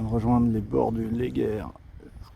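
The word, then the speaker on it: Léguer: rejoindre les bords du lez guerre ça se prononce comme ça la rivière qui coule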